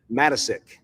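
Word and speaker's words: Matiscik: What you say Ross what? Matisic. Matisic, okay.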